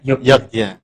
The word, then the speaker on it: Yogyakarta: J itu adalah Y, ya kan? Ayo hati-hati. Ya kan? J itu Y ya. Yogyakarta kan Yogyakarta. Ya kan? Tulisannya Yogyakarta. Ya benar. Benar. Iya. Jogja. Jadi bacanya Yogya.